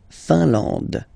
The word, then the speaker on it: Finlande: I-N here, nasal, un. A-N, nasal, en. And then D, final E, not pronounced. La Finlande.